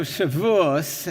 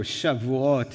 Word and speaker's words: Shavuot: So Shavuos, as some people used to call it, or Shavuot in the more modern Israeli pronunciation.